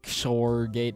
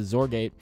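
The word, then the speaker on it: XOR gate: so this is a azor gate now it it's pronounced like z o r it's not shor gate it's a zorgate so this is a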